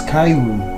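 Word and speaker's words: カエル: in japan so the japanese word for frog is kairoon which is pronounced in the same way as return travelers carry a small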